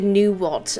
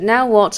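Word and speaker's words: Phnom Nonh: hospitality phenomenon now what that's how I pronounced by the way I initially pronounced it knew what until wonder of the npc's pronounced it now what and I felt like an idiot so I saved myself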